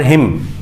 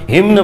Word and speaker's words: hymn: आज हम लोग जो कविता है वो है फायर हिम। इसको हिम पढ़ेंगे, ये ना जो है ये इसको साइलेंट कर देंगे एकदम। हिम्न पढ़ने की कोशिश करते हैं कुछ लोग जबरदस्ती का, वो नहीं होता है, ठीक है।